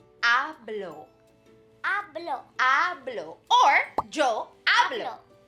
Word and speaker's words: hablo: now we would say hablo hablo hablo or joe hablo good did you remember that that h is shh silent we write it but we don't say it right yeah it's one